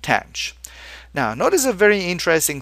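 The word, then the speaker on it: tanh: And we're going to pronounce this tench which actually rhymes with branch. Okay. So we have kosh, cinch and tanch.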